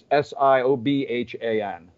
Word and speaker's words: Siobhan: Everything Siobhan does is gold. She has a new record. Go to Siobhan O'Brien. And again, it's S-I-O-B-H-A-N, pronounced Siobhan. It's the Irish in it.